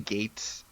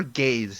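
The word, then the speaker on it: Geiz: front of the Z because they keep saying gates they it never gays its gates that's how they say it but yeah the English it's weird to us in English so yeah you just gotta remember its romanized Japanese as opposed to English yeah well let's talk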